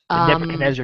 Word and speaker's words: Nebuchadnezzar: the ship I'm not sure if I'm GNA pronounce this right so bear with me is Nebuchadnezzar Nebuchadnezzar yeah you got it yeah okay thank God